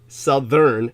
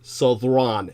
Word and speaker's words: Southron: Obviously, the Southerners, and that's the correct Scottish pronunciation that is used by Southerners, is not Southern, but Southron. It's actually Scottish for the southern peoples.